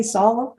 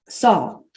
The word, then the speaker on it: Saul: Shaul is, if you've ever met someone from Israel and they don't say Saul, that's the American, that's the English pronunciation. Saul, what is it in Hebrew?